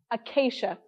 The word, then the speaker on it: Acacea: It's Acacia, with a hard A, Acacia.